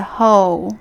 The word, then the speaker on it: 后: hiding behind the sofa behind there's a hole like yo ho ho ho bin so we say go